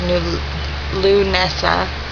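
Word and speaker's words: Lughnasadh: see and again as it can um is pronounced new lou nessa given by the and it physically means the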